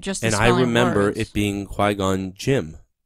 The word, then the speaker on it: Qui-Gon Jinn: I thought it was Jim. All right. Well, this is spelled J-I-N-N.